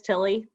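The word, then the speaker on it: Thile: uh speaking of mandolin do you know chris tilly have you ever heard of that okay i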